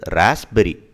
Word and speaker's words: raspberry: அடுத்தது ராஸ்பெரி, ராஸ்பெரியை வந்து இங்கே பார்த்தீங்கன்னா இந்த பி சைலண்ட் அண்டு ஜெட் மாதிரி சொல்லணும், ராஸ்பெரி, ராஸ்பெரி, அந்த பி சைலண்ட் அப்படியே ராஸ்பெரி, ராஸ்பெரி.